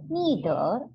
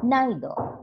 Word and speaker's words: neither: pronunciation the pronunciation is you can pronounce either or either or neither or neither both are correct depending upon your liking you can call it